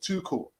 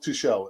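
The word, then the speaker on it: Tuchel: it's more me uh let's pronounce her too cool yeah too cool and not too shell uh he's german not french thank you for that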